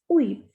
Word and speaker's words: huit: And H is a muted consonant. Whenever a word begins with H, we don't pronounce it. And T here is not a muted consonant. Otherwise, T is a muted consonant. So we will pronounce it as uit.